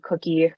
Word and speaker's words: Kuki: so my name is the name cookie pronounced just like the food chocolate chip cookie my pronouns are she